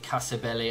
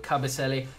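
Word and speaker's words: Kabasele: I know I said Casabelli. I get his name wrong, but Cabaselli.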